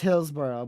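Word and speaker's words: Hillsborough: Okay, so it is Hillsboro, but it's not spelled like that.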